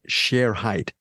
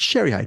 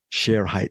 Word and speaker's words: Shere Hite: documentary you pronounce it share height sometimes they pronounce it the media people they pronounce it Sher height but the I think as far as the documentary goes the correct pronunciation is share height The Disappearance of share